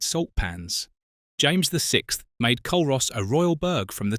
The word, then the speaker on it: Culross: Pronounced Culross, not Culross, and getting that wrong in front of a local will earn you a look that could curdle milk.